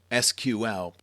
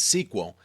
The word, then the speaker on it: SQL: SQL structured query language SQL pronounced as SQL or sometimes as sequel is actually the standard